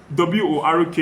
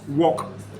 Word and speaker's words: work: So when you pronounce a word like W-O-R-K, it's pronounced work, not walk.